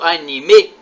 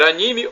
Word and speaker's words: anime: Anime ou anime? A pronúncia pode ser anime ou anime.